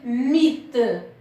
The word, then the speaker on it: mythe: Le H reste muet. C'est-à-dire, ne se prononce pas. Et le mot, c'est mythe.